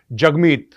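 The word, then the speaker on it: Jagmeet: ये दिखाए है की जगमीत यू नो इस प्रोनाउंस डी जग और राइम्स विथ हग यह देखो मोहब्बत देखो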